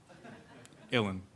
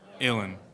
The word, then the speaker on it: Uilleann: But usually I say chillin', Uilleann. Chillin', Uilleann. That's it.